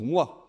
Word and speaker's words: moi: Ben non, on dit per moi pour moi. D'ailleurs, au passage, notez qu'on écrit O i, ce qu'on prononce WA, ce qui est une des merveilles de l'orthographe française quand même hein.